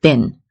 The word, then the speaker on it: been: returned back to london be careful with the pronunciation of bean when we use bean in a sentence it changes to bin so for example i